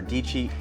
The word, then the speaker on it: Dietschy: Her last name rhymes with Peachy. Hey guys, Sara Dietschy here.